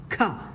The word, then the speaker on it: ഖ: അടുത്ത അക്ഷരമായ ഈ ഒരു അക്ഷരത്തിൽ ക എന്ന വ്യഞ്ജനാക്ഷരത്തോടൊപ്പം ഹ എന്ന ശബ്ദമാണ് കേൾക്കേണ്ടത്. ക പ്ലസ് ഹ, ഖ. ഖ എങ്ങനെ എഴുതാമെന്ന് നോക്കാം. നമ്മൾ വാ എന്ന് എഴുതുന്ന അക്ഷരത്തിന്റെ ഒരു ഛായയുണ്ടല്ലേ ഇതിന്. ഇവിടെ ഖ എഴുതുമ്പോൾ ഒരു 0 എഴുതി വാ എന്ന അക്ഷരം പോലെ വരയ്ക്കണം.